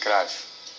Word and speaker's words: Cruyff: It's pronounced Cruyff.